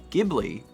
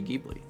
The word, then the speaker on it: Ghibli: it deeply is because i've pronounced it um ghibli and have been criticized for that it's happened in the past so now i say gheebly but also every every